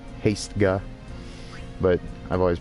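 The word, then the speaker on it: Hastega: even though I know it's not odd its haste guy but I've always pronounced that haste auger and then that should be the end of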